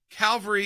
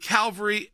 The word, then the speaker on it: Calvary: I'll go right to Harry on this, with cavalry, which is, again, bringing in like troops, with Calvary, the religious sense, which is spelled differently. One has an L before the V, one doesn't. Absolutely, and the words are pronounced differently if we're going to be precise.